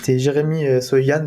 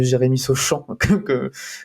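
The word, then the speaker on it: Jeremy Sochan: Et pas ce fameux Jérémy Sauchamp qu'on a envie de prononcer à la française.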